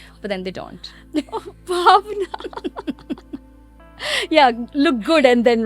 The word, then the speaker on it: Bhawna: People call me so many different ways, like Bona and Bhavna. And like in Australia, nobody can pronounce my name properly. So I have to actually break it down and say, just call me. Just think about.